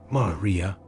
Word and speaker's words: maria: Vast ancient lava seas called Maria, pronounced Maria.